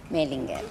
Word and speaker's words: Mohlinger: Bueno, ¿cómo es la pronunciación en alemán? Mollinger. Mollinger, ahí está. Mollinger, Mollinger te suelen decir, sí, seguramente. Totalmente. Aquí, ¿no? En la ciudad. Sacando diéresis y H, le ponemos el Mollinger.